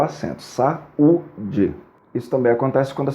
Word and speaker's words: saúde: exemplo na palavra saúde eu não digo saude eu digo saúde portanto eu estou separando o a do U como a segunda letra é u ele vai receber o acento saúde isso também acontece quando